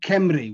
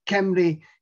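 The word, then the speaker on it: Cymru: language uh and the welsh name is um kemri which literally means my my fellow folk my fellow countrymen um and this is the famous uh welsh flag that we'll talk about shortly as well but kemley is the word for wales in the welsh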